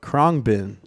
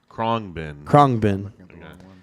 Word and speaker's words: Khruangbin: So the next band is called Khruangbin. Khruangbin.